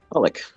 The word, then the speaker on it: Pollock: Today, our guest is Pollack. Is that how you pronounce it? Pollock.